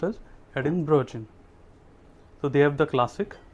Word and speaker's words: Edinburgh: is actually if you read it it is edinburgh but actually it is pronounced as edinburgh so they have the classic which is 4200